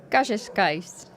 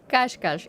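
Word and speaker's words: Cascais: Jose Darte Dalmea, council person of Kascas, Portugal Kashkash Kashkash is the pronunciation.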